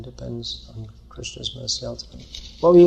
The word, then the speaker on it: Krishna: For that matter, we should say Krishna, and most of us don't pronounce Krishna properly. It should be Krishna.